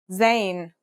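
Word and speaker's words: زاي: In terms of pronunciation, you say it just like the English Z as in zebra or elazer.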